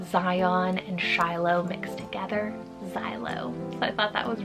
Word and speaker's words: Xylo: But the last name on today's list is the name Xylo, spelled Z-A-I-L-O, or you can do X-Y-L-O.